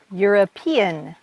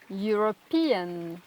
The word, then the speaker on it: European: Vous avez un autre son, le son IAN, E-A-N. Alors, qu'est-ce que nous avons comme mot, Karen? European, European, Korean, Korean.